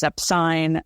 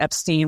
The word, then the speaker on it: Epstein: so in that biography Ray Coleman has it backwards he says that the family is epine Brian changed it to Epstein when he was in the Army that's not true because as we know the family is Epstein right and they've said